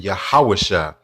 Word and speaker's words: Yahawashi: We don't use E, O, U, and V sounds in ancient Hebrew. So it'd be Yahawashai.